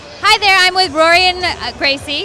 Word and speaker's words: Rorion Gracie: Hi there, I'm with Rorion Gracie. Did I pronounce that correctly? Correct.